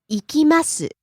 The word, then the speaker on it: 行きます: バー、 Next, 行きます、 to go, 行きます、行きます、 rising on the second syllable ki and falling on the last syllable su.